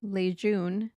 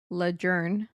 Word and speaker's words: Lejeune: Camp Lejeune, pronounced Lejeune, not Lejeune.